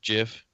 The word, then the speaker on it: GIF: gifs tiffypop you know it actually is pronounced jiff oh boy here we